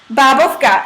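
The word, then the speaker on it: bábovka: Wait, so how do you pronounce that? Babovka.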